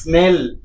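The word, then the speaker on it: snail: হ্যাঁ দাদা ওটাকে স্লেন বলে, স্লেন। আরে ভাই ওটা স্লেন না, স্নেল। স্নেল বলে, স্নেল।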